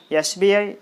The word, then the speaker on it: SBI: Yes, we are pronouncing the word, the letter S with a vowel sound.